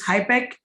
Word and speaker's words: HIPEC: before i start i want to get the pronunciation right it's hipec and pi pike is that correct absolutely so